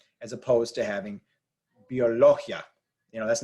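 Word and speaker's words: biología: as opposed to having Biologia you know that's not the word it's Biologia so we have to have e and uh as separate sounds but here e and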